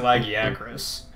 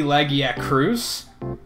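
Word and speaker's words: Lagiacrus: is a good example I always pronounced it laggy Agra's I think it's supposed to be laggy at cruise because there's a quest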